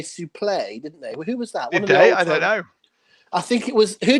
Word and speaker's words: suplex: website he's got on he says suplex and I might I have never heard anyone pronounce it sup likes before but he's adamant that he's right I'm like okay fine he's one of the commentators used to say sooo play I think it was